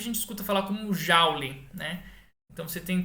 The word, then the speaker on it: Joule: Mas o fato é que a forma correta de se pronunciar o nome dele não é James Joule, mas James Joule.